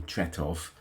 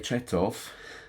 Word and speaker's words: Tretow: Uh, I got a tweet from somebody saying that Mick Tutoto, who you will see on all the ABA record sleeves as Michael Brito, but I think you pronounce him Tutotov.